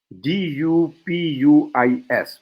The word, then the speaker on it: Dupuis: I want to read something from a seeker, Father Jacques Dupuis. I don't know how to pronounce it. Dupuis. People say you should pronounce as Dupuis.